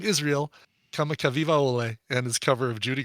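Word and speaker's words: Israel Kamakawiwoʻole: And he thinks I'm going to have a hard time pronouncing the performer of this version of Over the Rainbow. The guy's name is Israel Kamakavivaole.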